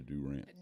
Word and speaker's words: Durant: So what took you to Durant?